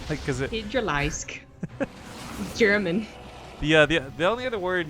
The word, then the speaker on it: Hydralisk: So I think I ended up calling it like a Hydraliquist or something. Because it. Hydralisk.